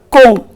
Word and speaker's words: comb: See here children, B is often silent after M. For example, in the word comb, you say comb and don't say comb.